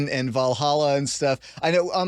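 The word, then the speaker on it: Valhöll: on my show I I try to do Old Norse pronunciations I'm not perfect at it but yeah I do say things like ball hole and uh othen for example but now we're having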